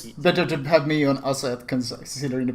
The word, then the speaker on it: ASEET: ASEET. ASEET. Okay, and versus Wargaming Pay to Win. Deep E or like long E, ASEET.